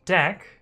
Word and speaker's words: deque: useful for interviewing uh which is d-e-q-u-e it's pronounced deck um actually it's it's pretty good for implementing